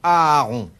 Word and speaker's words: Aaron: Pour quelle raison Aaron, frère aîné de Moïse. Parlez Ouais. à sa place. Aaron, tout simplement. Aaron, frère aîné de Moïse. Oui. Pourquoi Un peu pas son Aaron impresario.